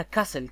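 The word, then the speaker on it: castle: ذات لانه موجود قبلها كاسل التي ما تلفظ طبعا كاسل كاسل كاسل كبر التي ما تلفظ لانها ما تلفظ خلاص اذا ال قلعه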